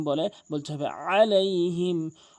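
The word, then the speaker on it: عليهم: ভুলটি করে সেটি হচ্ছে আলাইহিম বলে আইনের জায়গায় হামজা উচ্চারণ করে এখানে আলাইহিম বলতে হবে আলাইহিম আলাইহি অধ আলাইহিম বলে বলতে হবে আলাইহিম এখানে দত অবশ্যই আপনি চার আলিফ টেনে পড়বেন।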